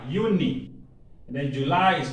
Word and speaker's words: Juni: J is pronounced Y, Juni.